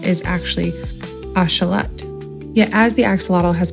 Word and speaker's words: axolotl: While many of us pronounce it axelottle, the original nodal pronunciation is actually ashalot.